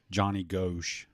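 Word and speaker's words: Johnny Gosch: I was listening to another pod, and they were talking about the Franklin scandal, the big Johnny Ghosh.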